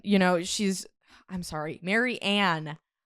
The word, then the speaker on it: Marianne: Maryanne. Marian. I know it's hard to not say like Marian.